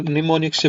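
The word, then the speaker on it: mnemonics: इसको अगर निमोनिक से बनाकर करें। निमोनिक्स की स्पेलिंग देख लेना भाई। एम एन ई एम ओ एन आई सी एस निमोनिक्स आएगा।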